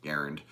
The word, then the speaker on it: Garand: he calls the channel, even though the word is pronounced Garand.